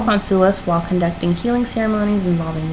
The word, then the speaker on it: Sulis: so the message from you make sure i'm pronouncing her name sue Sulis yep she celtic sun goddess who oversees bodies